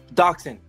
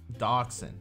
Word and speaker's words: Dachshund: Dachshund. Dachshund. I can't. I got to remember that. After today, I'm going to probably... I'm going to like sit there and study this. Dachshund.